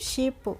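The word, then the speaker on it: ship: से क्या बनता है एस एच से बनता है श तो श बना लिया और आई से बन गई छोटी की मात्रा और पी से क्या बन गया प तो एस एच आईपी को हम क्या बोलेंगे बोलेंगे हम शिप ओके इसी तरीके से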